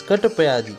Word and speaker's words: Katapyadi: The number 1 is mapped to the alphabets K, T, P and Ya, which is pronounced together gives Katapyadi, when Adi in Sanskrit means etc.